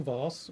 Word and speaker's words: Voss: Okay, so I'm Voss, one L, V-O-S-S.